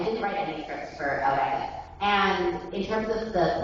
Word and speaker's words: Eureka: And then the Japanese original creators watched it and listened to it and they said, no, we don't want it Eureka, we want it pronounced Eureka.